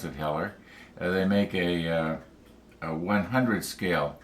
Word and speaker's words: Heller: So I checked, and I've known for years that I think it's Heller makes I think you pronounce it Heller.